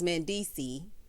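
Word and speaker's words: Mendeecees: So Yandy tells us that she's officially a Georgia peach because Mandisi, S is silent, child, said that he no longer wanted to be in New York and he wanted a fresh start.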